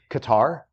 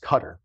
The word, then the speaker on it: Qatar: That's in, people say Qatar, but I think it's technically pronounced Qatar.